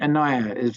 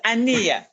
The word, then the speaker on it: Ania: further comments uh and anaya if i'm pronouncing your name correctly forgive me yes um kind of it's ania thank you ma'am yeah